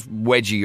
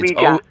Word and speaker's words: Ouija: It's not wedgie or Ouija or it's Ouija. O-U. We, as in French, yes, and German, yes.